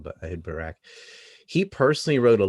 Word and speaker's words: Barak: Ehud Barak was also, I know I pronounced that with a T, but their T and K is kind of similar, but we'd say Barak, I guess. Kind of like, it sounds like Barack, like Barack Obama, but Ehud Barak.